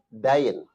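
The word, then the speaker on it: دَين: Bukan dal, dain. Ya, dain. Kalau kasroh, din. Din pembalasan. Kalau kita rubah jadi fathah, dain artinya apa? Artinya apa? Hutang. Hutang. Hutang. Makanya ada ungkapan al-wa'du, janji itu dainun.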